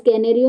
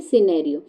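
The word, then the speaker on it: scenario: आ रहा है इस कैनेरियो नहीं पढ़ेंगे ना इसको इसको क्या पढ़ेंगे सिनेरियो तो जो एस है वो क्या हो जाएगा इसमें साइलेंट वर्ड हो जाएगा ठीक है बच्चों चलो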